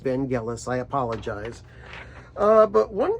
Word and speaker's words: Vangelis: made a video and I called him van jealous but his name is pronounced Vangelis I apologize uh but